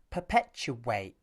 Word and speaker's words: perpetuate: If you listen carefully, you'll notice a w sound between the third and fourth syllables. Listen again. This time I'll exaggerate. Perpetuate. This w sound is caused by the squeezing of the lips at the end of the oo vowel.